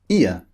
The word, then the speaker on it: ear: in some previous lectures when the r sound comes at the end of a word in british english we don't pronounce it we replace it with